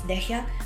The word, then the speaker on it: Dehya: I actually pronounce her name as Dehya, but when the 3.5 announcement pronounced her name as Dia, so like, oh, okay, let's call her Dia then.